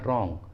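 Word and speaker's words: wrong: यहाँ पर W silent है और इसका सही उच्चारण होगा रॉन्ग, रॉन्ग।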